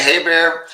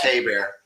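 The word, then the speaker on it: Hebert: Hey, and I'm going to say Hey Bear. When you had Bobby Haybear, the old cinjun quarterback play for Atlanta, it's pronounced Hey Bear.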